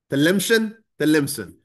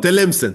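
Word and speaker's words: Tlemcen: look at it and that it's something like Telemsan or Telmesan, I think. Telemsen. Okay, so Telemsen, thank you.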